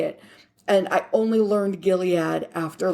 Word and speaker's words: Gilead: just the Horn of Gilead I don't think which by the way teenage me always pronounced as gilled and I only learned that it was Gilead well I didn't know